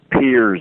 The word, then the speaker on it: Peirce: Peirce, it's pronounced, or John Dewey, or Oliver Wendell Holmes.